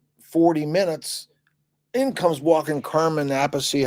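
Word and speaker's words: Carmine Appice: After about 40 minutes, in comes walking Carmen Appice, how do you say his name? Carmen Appice, yeah.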